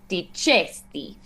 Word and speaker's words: dicesti: So, like dicesti, we accent the second to last syllable in that full word.